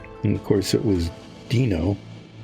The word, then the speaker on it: Dino: of course it was Dino it's spelled d-i-n-o which should be Dyno but it was pronounced Dino because I guess they